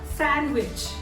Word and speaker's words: sandwich: D is silent in this word. We all love sandwich.